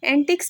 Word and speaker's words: antique: एंटिक्स कहते हैं queer odd यानी कि अजीब को। इसका सेंटेंस है everybody laughed at his foolish एंटिक्स। ठीक है। दूसरा एंटीक है, इसको एंटीक प्रोनाउंस करते हैं और इसका मतलब